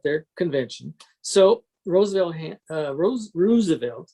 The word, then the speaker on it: Roosevelt: convention so roosevelt uh rose roosevelt as he's pronounced it created his own blankety